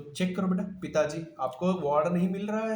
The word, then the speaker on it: पिताजी: ये साउंड में पिताजी, you stress on द जॉ, जी, और जिसमें स्ट्रेस आता है वो बड़ी होता है। पी, पी क्विकली खत्म कर दो, पी खत्म, जी, पी, जी, इसलिए छोटी है बड़ी।